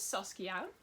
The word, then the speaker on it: Saskia: However, I am Dutch, so some names are Dutch, so I'm gonna pronounce them the way they're supposed to be pronounced and not in English. So yeah, this is Saskia, or how I called her as a kid, Sassy.